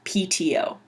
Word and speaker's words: PTO: each letter by itself pto it's not plateau it's p t o you just say the names of the letters so pto just means